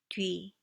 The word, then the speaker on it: 뒤: 뒤, 뒤. It's a combination of do and e. 뒤, 뒤. Say do e fast.